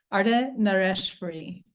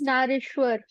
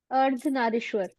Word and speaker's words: Ardhanarishwar: on this one, but Ardhanareshwari. Ardhanareshwari. If anybody wants to help me, we'll say that better, please. Ardhanarishwar. Yes, this one. Ardhanarishwar.